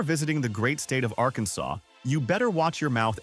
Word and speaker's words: Arkansas: You have to say the silent s correctly or you might offend the entire government.